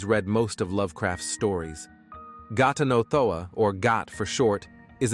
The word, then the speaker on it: Ghatanothoa: The man asks Wes his name, and upon receiving the answer, tells Wes to clamp his tongue with his fingers to pronounce his name correctly. Now, repeat after me. Got another one. Ghatanothoa.